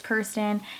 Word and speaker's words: Kirsten: Like, my name's Kirsten, and I know a lot of people pronounce it like Kirsten or Kristen. It's Kirsten. It's spelled, I think, the way it's pronounced, but it's hard to pronounce sometimes.